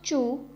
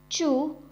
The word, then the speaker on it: zhu: Pinyin is ZHU, has a pronunciation of chu, chu.